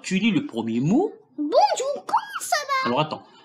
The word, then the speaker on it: bonjour: Alors, on dit, ici, on dit bonjour et pas bonjour.